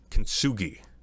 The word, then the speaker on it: Kintsugi: I can't, oh God, I'm going to butcher the pronunciation of it. Kintsugi, the Kintsugi project, where you reassemble broken pots, right?